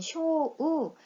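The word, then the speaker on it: 小: 이렇게 어떤 범위 전체를 나타낼 때 주우라고 읽는다는 거 기억해 주십시오. 작을 소이고요. 소리, 소라는 소리로 읽을 때는 쇼우, 작다라는 뜻으로 읽을 때는 코, 오와 같이 읽힐 때도 있고, 자, 작다라는 형용사 지사이입니다.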